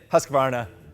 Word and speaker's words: Husqvarna: There's not enough syllables. I'm saying Husqvarna, whether you guys like it or not.